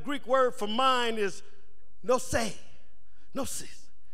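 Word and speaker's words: νοῦς: When I looked up that word mind in Romans chapter 12, verse 2, that Greek word for mind is nosē, nosis. It's spelled N-O-U-S and pronounced N-O-O-C-E.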